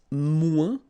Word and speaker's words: moins: Then if you want to say less, it's moins in French, so no discussion about the S here. Don't pronounce it, okay?